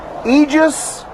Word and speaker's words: Aegis: we're out and about here on monacello Street egis Mental Health did I say it right Tammy